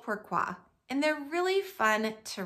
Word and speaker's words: pourquoi: actually a French word pourquoi can you say that two syllables pourquoi and it means why